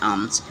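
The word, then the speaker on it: alms: टू बेग फॉर आम्स ए एल एम एस यहां L silent हो जाता है आम्स ठीक है वन डे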